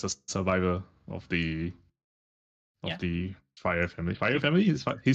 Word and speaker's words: Freyr: fire family. Fire family is he spit fire. How do you spell it? Fire. Like FIRE. FREYR.